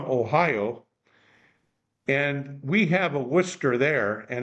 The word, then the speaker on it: Worcester: and we have a Worcester there and it's pronounced the same way Worcester Worcester however in Boston Austin it's wer wer like Wicked wer well guys uh again